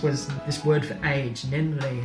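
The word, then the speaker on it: 年齢: And the most egregious example of all of this was this word for age, nenrei. It's a 2-syllable word.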